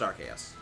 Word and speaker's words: Arceus: thing the Arceus we know is not actually Arceus and yes the name is pronounced archaeus because uh that's the whole reason why the